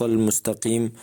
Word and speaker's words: المستقيم: معزز دوستو، اہدنا الصراط المستقیم صحیح تلفظ کے ساتھ اس کا معنی یہ ہے کہ یا اللہ ہمیں سیدھے رستے پہ چلا، لیکن اگر المستقیم میں قاف کی جگہ پر کاف پڑھا جائے تو اس کے معنی میں